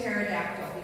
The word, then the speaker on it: pterodactyl: If she forced me to choose, though, I'd go with pterodactyl because they fly and they start with a silent P, right?